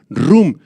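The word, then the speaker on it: רום: soberbia la palabra soberbia rum del arameo con acento en la u rum es una autoexcel que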